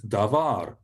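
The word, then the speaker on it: דבר: The word for word or thing or matter, it's quite an important word, is davar, davar.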